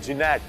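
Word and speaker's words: Gnat: यह जहाज जो है इसका नाम है जिनेट नेट कहते हैं इसको बट जीनेट इसकी स्पेलिंग है यह ब्रिटिश सिंगल इंजन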